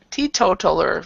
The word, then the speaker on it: teetotaler: So like the T, the T and the total.